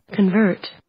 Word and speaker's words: convert: てきましょうはい convert 後ろですね convert コンバーなんでアクセントが